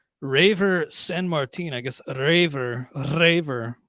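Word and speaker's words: Reiver: I guess Raver. You got to roll the R, I guess, so it's properly pronounced.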